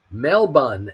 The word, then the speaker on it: Melbourne: is by far Melbourne Australia it is also pronounced Melbourne melbon and Cairns is pronounced cans they like to